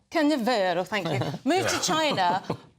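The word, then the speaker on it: Canavero: of a recently deceased donor, Italian neurosurgeon Sergio Cannavaro, am I saying it right? Cannavero, thank you.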